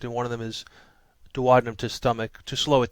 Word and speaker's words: duodenum: Some people pronounce it duodenum. I prefer duodenum, jejunum, and ileum.